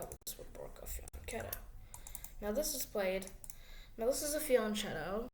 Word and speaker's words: fianchetto: Now, fianchettos, I think I'm saying that right. I think fianchetto is the way to say it, like F-Y-A-N-K-E-T-O-E, fianchetto. Spelled like fianchetto is very popular again.